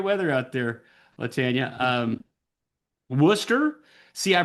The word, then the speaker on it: Worcester: Um, Worcester. See, I pronounced it right, didn't I? It's not Warcester. That's Worcester, Massachusetts. Or more specifically, it's Wora. It's Worcester.